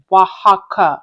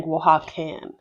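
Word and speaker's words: Oaxaca: And the crazy part is I think I was still pronouncing it wrong because it says Wajaka. I was saying Wakan.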